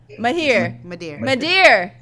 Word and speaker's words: Madhir: Madhir. It's like, it sounds French. It's like, because it is French, Madhir.